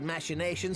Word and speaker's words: machinations: plain that tillage's wild machinations had outgrown our ability to control them so i decided to usurp his scheme and left the fool to seal his own demise um it's pronounced machinations and what of nanamo